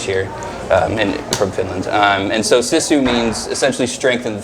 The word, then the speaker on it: Sisu: Yeah, so Sisu, it's however you want to pronounce it. I think Sisu is probably more correct. Everyone just says Sisu, so we've kind of just rolled with Sisu.